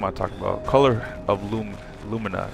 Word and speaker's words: Lumina: Color of lumina, right?